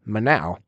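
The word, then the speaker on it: มะนาว: She's eating lemon ice cream and in Thai lemon is pronounced as manao.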